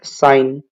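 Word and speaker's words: sign: यह आंसर नहीं होगा नेक्स्ट साइन साइन में जी साइलेंट है सिंग में और रिंग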